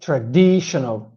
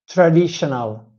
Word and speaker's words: traditional: start with the word traditional you see we have four syllables TR D sh and of course the in the D sound is a Lex e and as Italian I used to say traditional traditional and of course